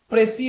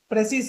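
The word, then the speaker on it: précis: उसके बाद प्रेसी writing. प्रेसिस writing यानी इसका एक्चुअल प्रोनाउंसिएशन प्रेसे है, तो असल प्रेसे क्या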